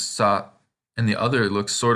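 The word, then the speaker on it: さ: This tells us both these kanas have the a pronunciation. And if we look at the first one, it looks like a backwards S. So this is sa.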